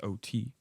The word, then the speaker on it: Otey: from of course my last name is OT y OT pronounced OT by the way I I